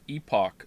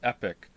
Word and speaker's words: epoch: about the pronunciation of epoch since you played Chrono Trigger many people pronounce it epic what it's Epoch or